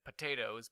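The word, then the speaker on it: Pot8os: However, they still pronounced it potatoes, but they wrote it pot-8-O's. Yes, still pronounced the same way.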